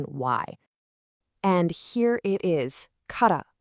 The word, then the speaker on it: kara: And here it is, kara, pronounced ka-ra.